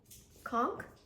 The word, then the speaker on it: conch: Conch, like the shell, a conch shell.